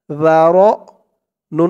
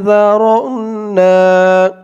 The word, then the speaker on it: ذرأنا: জালের উচ্চারণটা একদম নরম পাতলা করতে হবে। জিহ্বার মাথা উপরের দাঁতের মাথার সাথে লাগবে জালের উচ্চারণ।